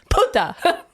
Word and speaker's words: puta: Plus, you didn't put the accento on the right. It's puta. It's a puta.